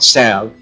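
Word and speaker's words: salve: us a s that could wake S A Sav that's how it's pronounced it's a Sav that could wake a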